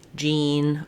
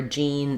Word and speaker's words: Jean: So for example, we could say Sean is on the lawn, or Sean studies law, whereas we might say I see Jean, or Jean is wearing jeans.